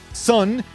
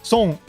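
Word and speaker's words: 孫: First of all, it's not sun. It's the S O is not pronounced S. It's so And the N is not pronounced like a typical N. It's more like an NG.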